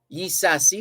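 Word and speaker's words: Ysassi: years to recapture the island from the english yi sasi which is spelled y y-s-a-s-s-i yi sasi escaped to cuba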